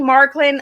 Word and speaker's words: Marklyn: hey what's going on Anna am I saying marklin I'm I'm saying your name wrong I'm saying Mark only said it wrong